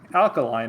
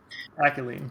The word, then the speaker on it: Akaelyne: Got this week 4 matchup between team yet another Bonk, where we've got Coxla piloting Alkaline, I believe that's pronounced, and Akaelyne. Akaelyne, thank you.